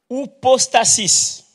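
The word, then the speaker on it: ὑπόστασις: espère ferme assurance donc le mot grec c'est ou postasis ça s'écrit h u P O S t a s i s ostasis hostasis est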